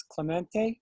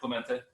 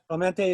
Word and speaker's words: Clemente: his name is Clemente, or Clement. He'll correct my pronunciation. Is that correct? You got it right, Clemente. Yeah. Clemente is correct.